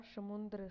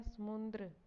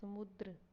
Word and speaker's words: समुद्र: गलत उच्चारण किया है हम पढ़ते हैं समुंद्र लेकिन होता है समुद्र और लिखने में शुद्ध रूप भी यही है इसमें आधा नया अनुसार नहीं आएगा यह सीधा समुद्र ही